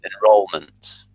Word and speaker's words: enrollment: And just be careful with the stress of this one. The stress is on the middle syllable, enrollment. Enrollment. Yeah, so and ment are very quick, and roll is a bit longer. That's where the stress in this word comes from.